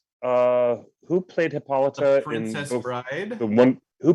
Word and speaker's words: Hippolyta: i'm going to give it to you if your pronunciation again it's hippolyta hippolyta who is that who are both of